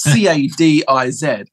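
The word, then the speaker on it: Cádiz: world I've been picked up on my pronouncing pronunciation so I'm starting to say things like but it's c-a-d-i-z and I feel a bit of a prick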